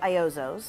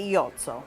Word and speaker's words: Iozzo: the way in uh in the US we say ioos Okay ioos ioos Garden of Italy and in Italy we say Yoto cuz there's no really